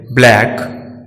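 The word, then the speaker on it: black: सी को जब के पहले रखा जाता है तो साइलेंट रहता है, जैसे ब्लैक, क्लॉक।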